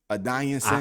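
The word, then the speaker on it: Adesanya: adonis is that's how you say his name a dying son i just i just call him israel because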